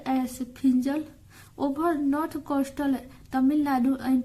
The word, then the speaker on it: Fengal: जिसका नाम क्या है फिजल प्रोनाउंसड एस फिजल और इसका उच्चार प्रोनाउंस मतलब क्या होता उच्चारण फिजल के रूप में भी किया जाता है ओवर और यह चक्रवाती